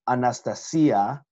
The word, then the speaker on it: Anastasia: And then Anastasia is how you say it in Greek.